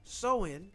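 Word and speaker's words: Samhain: Halloween traces back to the ancient Celtic festival of Saman pronounced Soen. Oh, so pronounced the uh Celtic festival of Sewen.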